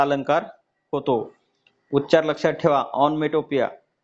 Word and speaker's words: onomatopoeia: उच्चार लक्षात ठेवा, ऑनमेटोपिया. स्पेलिंग पण लक्षात ठेवा.